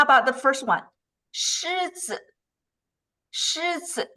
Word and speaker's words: 狮子: So again, 狮子, that is, that's the first tone. 包子, that's the fourth tone.